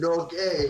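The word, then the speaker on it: Norge: They pronounce it Norgay, which is very funny.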